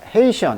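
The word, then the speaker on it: Haitian: 보겠습니다 에 이시언 자 자 헤이 시아 이렇게 발음합니다 it 자 헤이 션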